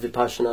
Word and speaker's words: Vipassana: So like Vipassana, but Vipassana is how you say it.